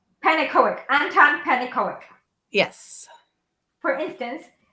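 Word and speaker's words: Pannekoek: How do you pronounce his name, please? Who? Panic. K. Horner's real name. Oh, Panicoic. Panicoic.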